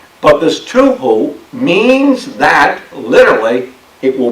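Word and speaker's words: תֹּהוּ: I believe it would be pronounced tuhu. But this tuhu means that, literally, it will be a wasteland.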